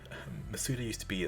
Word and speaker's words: Masuda: in this game mazda or apparently it's called masuda because in the presents they said junichi masuda